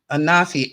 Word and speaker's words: Anafi: name before anafi and they're showing me a spelled a-n-a-f-i and they're telling me you pronounce it anafi um he is from